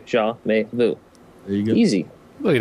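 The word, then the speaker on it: Jamais Vu: say it it just it's three parts it's jaah like zah Gabor may like the month and then Vu like Voodoo jaah May Vu there you go easy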